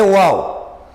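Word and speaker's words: واو: o som do au Quando os dois lábios juntarem-se incompletamente aí encontramos o som do uau é uau no início de uma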